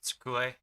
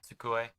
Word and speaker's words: tsukue: The word for desk is tsukue. Wait, yeah, tsukue. And I'm probably even overpronouncing the sound there. Tsukue, yeah. So the tsu sound, not really.